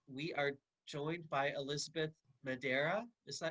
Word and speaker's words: Madeira: And tonight we are joined by Elizabeth Madeira. Is that M- pronounced correctly? Madeira. That's very close. Madeira.